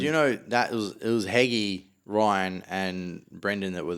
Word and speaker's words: Heggie: She was the MC, the judge, and then there was Hedgie. Oh, Luke Heggie. Yeah. Hedgie. So he did his stuff for like 10, Luke 15. Heggie. Sorry, Heggie. He. There's no D.